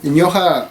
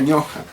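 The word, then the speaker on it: ñuqa: Ñoja se escribe con U, pero cuando está en presencia, en este caso, de otra consonante, se pronuncia como O. En realidad se escribe ñuja, ¿no? Pero se pronuncia ñoja.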